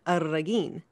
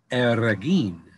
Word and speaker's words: Arreguin: It's a funky last name. It's Arreguin. So you get to roll. Arreguin.